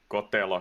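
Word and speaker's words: Kotelo: Just following Cotello here. He's actually don't know how do you want to pronounce his name, but I say it in the Finnish way.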